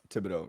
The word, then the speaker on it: Thibodeau: I might be mispronouncing it. Is it Thibodeau? Thibodeau, yep.